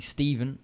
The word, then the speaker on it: Stephan: F but it doesn't the name is actually Steven and I was his name should be pronounced so Stephan Bonnar wants to come at